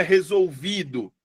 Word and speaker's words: resolvido: E aí você fica é resolvido, resolvido, é resolvidor, é resolvido ou é resolvido? É resolvido. A sílaba mais forte é o vi.